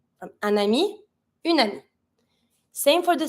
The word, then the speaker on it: ami: Every time you have the little vowel at the beginning of a noun, you link it with the consonant that's just before. So we're going to say un ami.